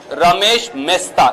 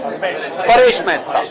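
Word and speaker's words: Paresh Mesta: Reams of news space were spent on Ramesh Mehta, if I'm pronouncing the name correct, right, ma'am? Paresh Mehta.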